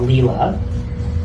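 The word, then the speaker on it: Lila: So, there's a concept called Leela. L I L A long I or sometimes it'll be L E E L A that people will write it.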